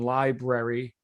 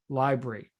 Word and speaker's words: library: And then grammar, the omission of sounds and letters from within a word. For example, when library is pronounced library.